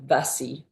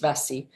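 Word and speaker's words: Bassae: Um, this is the temple of Apollo at at Vassi or Bassie as it's spelled with a B but pronounced Vasi.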